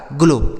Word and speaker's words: glow: ठीक है, देखिए आगे लिखा है GLOW, तो इसे पढ़ा जाता है बच्चों GL से हो गया आधा ग और ल, OW का उच्चारण हो जाएगा ओ की मात्रा, तो इसे पढ़ा जाएगा ग्लो।